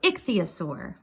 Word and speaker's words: ichthyosaur: you see there's parentheses with the pronunciation ich the asur so ichthyosaur that's a big long